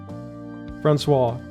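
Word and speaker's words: François: I've I've ran into this first name 800 times and I still don't know how to pronounce it. Francois.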